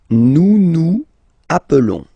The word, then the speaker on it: nous nous appelons: Nous nous appelons. Okay, so I will make the liaison.